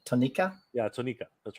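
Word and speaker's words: Tonnika: You pronounce that even funny. Tonica? You said Tonica? Yeah, Tonica.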